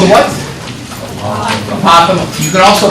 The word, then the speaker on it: apothem: Apothem. You can also pronounce it Apothem, but Apothem is better because it sounds like Gotham.